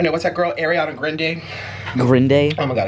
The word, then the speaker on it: Grande: name is actually pronounced grand e but a common misconception is that it's pronounced grande which i can see why i make the mistake too but it's actually pronounced granny because i know family